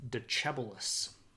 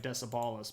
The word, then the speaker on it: Decebalus: But we do know that he gives the throne to a guy named Decebalus. I know it looks like Decebalus, but it's pronounced Decebalus. My pictures are out of order.